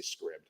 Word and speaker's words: Scribd: And it's actually free on the Scribd or Scribd app, depending on how you pronounce it. I say Scribd.